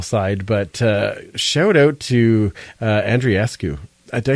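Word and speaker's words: Andreescu: One exciting thing, I know we're going off of the football side, but shout out to Andriescu. Did I say it right? Andrescu? Apparently, she says Andrescu.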